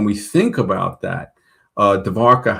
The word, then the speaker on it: Dwarka: Dvarka um ancient city of Moendaro.